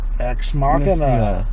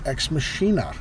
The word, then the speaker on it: Ex Machina: And Ex Machina. Or, depending on who you ask, Ex Machina. For those who are unfamiliar with the Latin pronunciations.